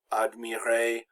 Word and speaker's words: admirer: So words that end in a, now the r is always silent in verbs like admirer, accepter. When a verb ends in er, the r is always silent and the e makes the a sound.